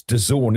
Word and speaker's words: DAZN: Uh doesn't Germany has an interview with Oh, it's DAZN, isn't it? That's how you pronounce it.